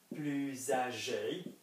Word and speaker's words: plus: So if we had he is older or more aged, plus âgé, then like any other word with the letter S and then a vowel, we're going to pronounce this like a Z.